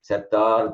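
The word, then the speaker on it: சேற்றார்: Serichayam, that Katru, Karavai, that tra will be pronounced as tha. So it will be Kattu, Karavai, Kanangal, Palagarande, Settar, Tiralariya, Chandru, Serichayam. So that Chetrar Tiralariya becomes Settar Tiralariya. And that's one of the reasons why I don't like to use that, because Setrar means enemies, Settar means those who have died. So in the process of pronouncing Setrar as Settar, you essentially change the meaning of the word.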